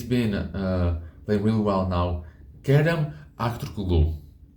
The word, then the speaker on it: Kerem Aktürkoğlu: Kerem Aktürkoğlu. I know. I think I butchered his name. Kerem Aktürkoğlu. That's right.